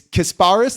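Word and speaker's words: Kasparas: this too well hold on so it's it's kasparis that's his first name Yak chanes chones yes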